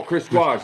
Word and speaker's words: Waugh: How you pronounce his name? Chris Wah? Waugh. Chris Waz this Thursday, right?